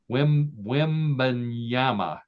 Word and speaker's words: Wembanyama: The morning after his team defeated the New York Knicks at Madison Square Garden, San Antonio Spurs center Victor Wembanyama. Am I pronouncing that correctly, John?